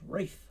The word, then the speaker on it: Ralph: tunes sin nominee by rafa von williams ralph pronounced wreath apparently um so um and the the title